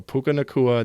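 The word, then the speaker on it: Puka Nacua: I'm pronouncing this correctly puka nakua nakua that's right okay I'm getting I'm seeing head nods behind the camera so puka nakua the correct name uh I was really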